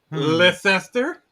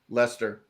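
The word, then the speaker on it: Leicester: above yeah right below yeah right there yeah leester leester Lester Lester okay oh this is it's so stupid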